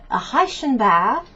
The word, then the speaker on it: Reichenbach: as you can see, the Reichenbach, this is the German pronunciation, waterfalls, okay, as you can see on the picture, okay.